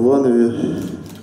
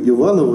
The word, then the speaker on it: Иваново: Вот были концерты на выходных пятницу в Ярославле и в субботу в Иванове. Оказалось правильно говорить и в Иваново, и в Иванове.